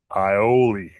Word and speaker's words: aioli: And today's word is ioli. Ioli. The reason why I'm laughing is because I literally just mispronounced it before I started this whole thing.